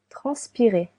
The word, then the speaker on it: transpirer: Transpirer. Transpirer to sweat. You can hear three syllables. Trans p transpirer.